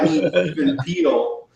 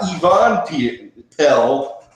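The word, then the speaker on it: Even Piell: Even Peel. Not Yvonne Pell, but even Peel.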